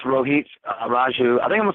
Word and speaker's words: Rohit Raju: Well, then I'll let you right now give us the proper pronunciation. It is. It's Rohit Raju.